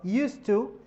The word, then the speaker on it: used to: So did I used to be slim? استعملت هنا الأوكسيلري اللي هو did واستعملت used to. The pronunciation it doesn't change. واخا حيت دي ما كنطقاش الز كتنطق س used to.